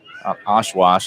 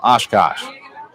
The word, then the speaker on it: Oshkosh: Oshwash, I think that's what I said last time. Oshkosh.